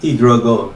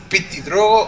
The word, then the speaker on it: PtitDrogo: small Advantage for or t Dro but it's not 100% over I think wait his name is p Dro or t dro the p is silent yeah just T Dro